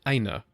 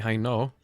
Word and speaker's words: Hainaut: You know, I learned that you pronounce Hainaut Aina, which is the most bizarre thing. I've been saying Hainaut because that's what I assumed, but they are in